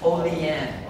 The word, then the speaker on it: Olean: policy holding am i saying it right folding oh leanne okay i'm so sorry first mistake already right